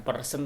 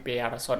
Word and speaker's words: Pearson: uji bersinnya air berkurang ini bukan persen tapi pearson adanya di sini belok berpuasa bacanya itu lalu jika terdapat salah